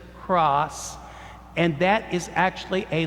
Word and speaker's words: cras: scroll that says C-R-A-S, which we would pronounce sort of as cross, and that is actually a Latin term for tomorrow.